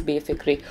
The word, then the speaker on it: Befikre: I want to make sure that I actually pronounce Befikre right, because what if it's like Befikre? Okay, I got the pronunciation. It is Befikre.